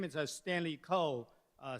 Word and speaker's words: Kou: legal of women uh my name is Stanley Cole uh spelled with a k o u and here is